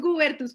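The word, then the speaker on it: Goebertus: Guebertus. ¿Todo bien? No, lo pronunciamos Gubertus, pero no importa. Me han dicho hasta Juanita Cubiertos, así que no hay, creo que tu pronunciación estuvo perfecta.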